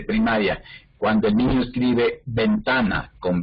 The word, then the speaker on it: ventana: ¿Cómo pronunciamos la B de ventana? Como si fuera una B larga. La B de burro.